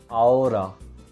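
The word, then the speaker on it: ahora: now in spanish is aura aura as a choose is not pronounced in spanish we directly go from a to o aura aura can you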